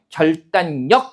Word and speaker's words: 결단력: 이음절 두 글자 한자이기 때문에 이때는 니은 받침 뒤에 리을이 비음화가 일어나서 이것도 설명 나오니까 분석하면 돼요. 결단력 이렇게 발음이 되는 거고요.